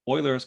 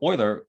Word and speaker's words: Euler: So this is something called Euler's conjecture.